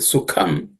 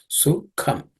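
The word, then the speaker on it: सुखम्: The last line, Kasya Sukham, the Sukham, the Ka is the second letter in the Ka class of sounds, so it has to be aspirated. Sukham.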